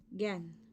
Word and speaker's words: gangue: Okay, so the third term that we need to know is, that is GAN. We pronounce it GAN. The spelling is GANGUE.